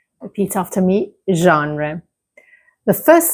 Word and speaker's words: genre: Now, let's move on to a word in English that is borrowed from French, but we pronounce it in a different way.